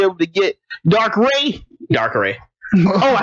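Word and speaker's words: Darkrai: to get dark ray dark ray oh I said the right no it's dark R it's pronounced dark R you did it right AJ and you're the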